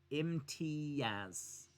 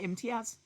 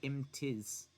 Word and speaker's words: Imtiaz: You're squashing the A and the Z together. Imtiaz. A-Z. That's how I've always pronounced it, Imtiaz. Imtiaz. A-Z. I don't say Imtiz.